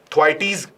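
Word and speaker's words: Thwaites: ये जो पोजीशन है इसी को बोलते हैं, जब आप इस ग्लेशियर का नाम बोलोगे तो ग्लेशियर का नाम है थ्वाइटीज ग्लेशियर, ठीक है।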